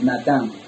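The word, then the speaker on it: נתן: En este caso, el hebreo, la palabra dar, viene de una palabra hebrea llamada Natán, o se translitera o se pronuncia Natán.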